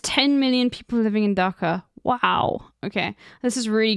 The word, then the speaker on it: Dhaka: I'll also tell you, I'll read out some of the cities just so you know how to pronounce them. The main city is Dhaka.